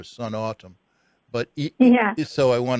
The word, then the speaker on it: Snatam: you pronounce an autumn I hope it's a Sun autumn as Sun and autumn like the time of year Sun autumn but yes so I